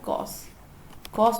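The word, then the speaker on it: cosec: इसे कॉसेक है बोलते हैं, ये कॉस है, ध्यान रखना स्पेलिंग में।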